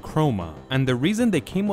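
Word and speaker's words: χρῶμα: Just like usual, chrome is a Greek word that means color, and they pronounce it chroma.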